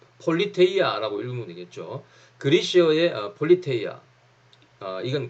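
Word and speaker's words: πολιτεία: 자, 경찰의 어원은요, 그리스어, 이걸 뭐라고 읽어야 되나? 자, 폴리테이아라고 읽으면 되겠죠.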